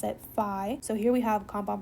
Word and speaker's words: phi: We pronounce it phi.